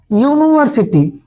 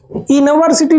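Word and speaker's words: university: देखिए क्या है कि इसका उच्चारण हम ए से करते हैं ना यूनिवर्सिटी इवर्सिटी नहीं कहते हैं यूनिवर्सिटी तो ये बताओ वावेल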